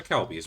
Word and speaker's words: Kelbi: Hey, now, Jay, this is where the Kelbies were. Kelbies. Or Kelbi. I don't know why I keep calling it Kelby. It's not the correct pronunciation.